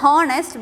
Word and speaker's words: honest: When we are pronouncing this word, this letter H is silent. Okay, it is not pronounced as honest, but it is pronounced as honest. So we will not pronounce the letter H, but we will be pronouncing it as honest.